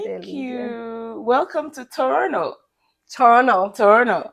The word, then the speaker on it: Toronto: you welcome to Toronto torno Toronto not Toronto no the second T is silent oh okay it's Toronto